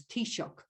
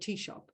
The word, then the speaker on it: Taoiseach: to learn how to phonetically pronounce Taoiseach, although he spelt it first as T-E-A-S-H-O-P, Taoiseach, as in coffee shop, but Taoiseach.